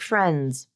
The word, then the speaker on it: friends: of that show Friends there's no D there even though it's in the spelling it's not friends friends that's really hard to say no one pronounces it everyone uses the rule of three just drop that D friends hands all right